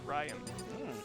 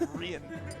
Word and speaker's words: Ryan: I've heard at least one person mispronounce my first name, which is Ryan. I don't know how. Rion? It ended up being Rian. I was like, that is not correct.